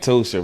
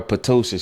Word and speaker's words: Ptosha: I got a friend named Tosha, right? And she spelled her name Ptosha. The P is silent. And if you call her Patosha, she would have a fit.